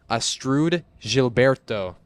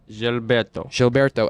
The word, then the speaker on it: Astrud Gilberto: I did look it up how to pronounce it. yep, but it's yep. the Astrud Gilberto. Gilberto.